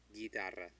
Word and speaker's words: guitarra: So it's guitarra. Guitarra. Since it's G-U, it says ga. And because the U is between a G and I, it's silent. So it's gi. Guitarra.